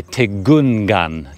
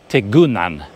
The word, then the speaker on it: tikungan: I've noticed that there's quite often a letter G in the words that is silent. When I was talking to the guys yesterday, there was something I kept saying with a G in it, and I would say tegungan, tegungan. I would pronounce the G hard or soft, and they say, no, you don't pronounce it at all. Just ignore it.